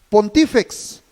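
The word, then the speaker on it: pontifex: El sumo sacerdote quiere decir, se pronuncia pontífex.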